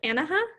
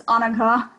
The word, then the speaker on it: Annika: I believe it's pronounced Anaha. Yeah, hi, it's Annika, but I'm not picky, so it's all good.